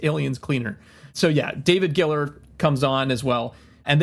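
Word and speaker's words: Giler: Ger I think he pronounces it Giller, but even though there's only one L, so I don't but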